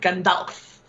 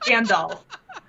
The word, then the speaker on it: Gandalf: wanted to include it in what like the little talk that he was giving, and he pronounced it Gandalf Oh. instead of Gandalf.